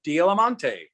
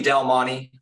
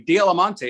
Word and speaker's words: D'Alimonte: say hello to Dialamonte. Did I pronounce that name correctly? Yeah, that was pretty good. So, what do most people say? Usually Del Monte, like the pineapples. So that's pretty annoying. Dialamonte is much more, regal